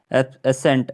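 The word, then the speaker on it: ascent: जैसे कि जैसे कि एसेंट एसेंट एसेंट एसेंट एसेंट एसेंट एब्सेंट एब्सेंट नहीं है ये तो एसेंट है एसेंट एसेंट में जो है सी साइलेंट है क्योंकि एस उससे पहले है इसलिए एसेंट साइलेंट है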